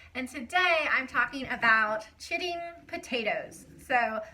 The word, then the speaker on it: chitting: today I'm talking about Chitti potatoes so no I am NOT cursing that's actually how you say that y'all potatoes ch ITT